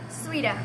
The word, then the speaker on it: Sweta: name again sua Nepal how do you say your first name sua sua yeah and it's Nepal it's spelled like sweet but with one e s w e t a okay and you're looking